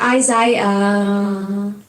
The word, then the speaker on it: Isaiah: It's pronounced Isaiah.